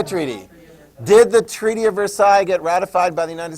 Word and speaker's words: Versailles: gosh oh my gosh it starts with a V rhymes with air PSI the Versailles treaty did the Treaty of Versailles get ratified by the